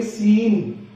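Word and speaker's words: scene: अगर एस के बाद सी लेटर आ जाए तो सी साइलेंट रहेगा। लेटर सी। एस सी ई एन ई। इसके अंदर ये जो सी है ये साइलेंट रहेगा। इसको बोलेंगे सीन।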